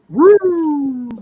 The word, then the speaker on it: Roode: Bobby Roode.